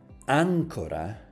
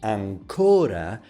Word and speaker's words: ancora: But if you say ancora, placing the stress on the second to the last, you mean still.